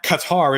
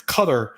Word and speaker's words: Qatar: It's not It's not Qatar. It's cutter. It's coder. all this like all this stuff. We need to say we need to pronounce it. I'm gonna say guitar still.